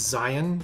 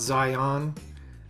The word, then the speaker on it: Zion: in southern utah and to pronounce it correctly it's zion national park to the locals not zion so get that right but angel's landing i'll